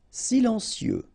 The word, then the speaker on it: silencieux: Silencieux, final X not pronounced, okay? This part here will be pronounced like cieux, okay? Then you get silencieux, silencieux.